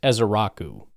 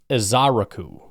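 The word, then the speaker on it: Ezeiruaku: into Ezaraku, but uh, looking at it phonetically, the uh, emphasis seems to be put on the aku.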